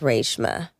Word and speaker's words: Reshma: But it's supposed to be pronounced Reshma.